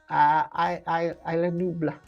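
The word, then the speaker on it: Isla Nublar: Which film takes place on the Isla Nebula? He did tell me how to say it, and I can't... Just read that, right? Okay. Isla Nubla.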